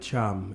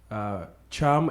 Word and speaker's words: Thiam: The name Mohamed Thiam, is Thiam a family name? And again, am I saying it right? Yes, you do say it right.